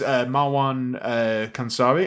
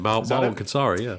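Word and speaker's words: Marwan Kenzari: So his name is Marwan Kansari. I'm really sorry if I've just butchered the pronunciation. No, that's actually it. Marwan Kansari.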